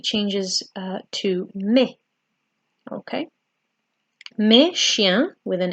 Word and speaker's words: chiens: Except in French, you don't pronounce the S.